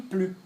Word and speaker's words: plus: Atenção, porque o S aqui do plus não pronuncio. Plus, ok?